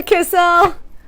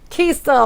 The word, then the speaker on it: Kiesel: Hi, Kissel. Kiesel, I believe, is the correct way to say that.